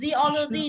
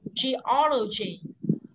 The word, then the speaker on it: geology: Cong cái môi lên mà đọc, không đọc geology thì người ta không hiểu cái gì cả. Được chưa? Mà mình phải đọc là geology.